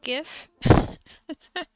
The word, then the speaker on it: GIF: If you pronounce with a J, you should be executed. You mean GIF?